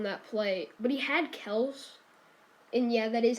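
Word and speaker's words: Kelce: holmes fumbled on that play but he had kells and yeah that is how you pronounce it i already know there's gonna be controversial but um travis kels is what i'm gonna call him uh he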